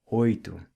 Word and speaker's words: oito: Words ending in TO are pronounced with the U sound like espírito, oito, 8 or ocho in Spanish, and rato, mouse or ratón.